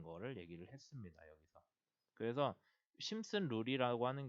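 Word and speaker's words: Simpson: 심슨인데 P는 묵음인 것 같아서 저는 계속 심슨이라고 했는데 P가 묵음인 것 같거든요.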